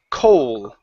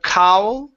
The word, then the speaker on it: Cole: one is the name Cole ok instead of cowl with an owl it's 00 Cole Cole Cole good Cole